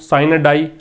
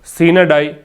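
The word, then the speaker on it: sine die: ठीक है, साइन डाई, इसको साइन डाई अमेरिकन इंग्लिश में कहते हैं, और सीन डाई ये जो है इसको ब्रिटिश इंग्लिश का इसका प्रोनाउंसिएशन होता है।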